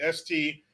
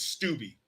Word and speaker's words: Steube: That's how I'm going to say his name, Steube. I doubt it's Stubby.